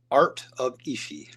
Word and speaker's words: Art of Ishi: Art of Ishi. Art of Ishi. Yeah. Got it. Awesome. Yeah. I would have butchered that.